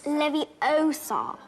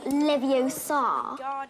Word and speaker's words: Leviosa: Besides, you're saying it wrong. It's Leviosa, not Leviosa.